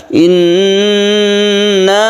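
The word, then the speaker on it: إِنَّ: Padahal di sini adalah tasydid nun ini termasuk gunnah. Gunnah musyaddadah, nun yang bertasydid itu didengungkan. Inna berarti kita tahan membacanya, jangan langsung inna tapi ditahan. Inna ya sekedar 1/2 alif gitu ya.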